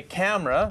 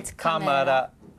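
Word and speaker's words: カメラ: You wouldn't say camera. Yeah. You'd say kamara.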